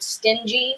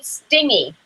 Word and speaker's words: stingy: I have a friend who pronounced the word stingy sting e or whole life sting e nice like stingy dingy dingy dingy yes I mean pronunciation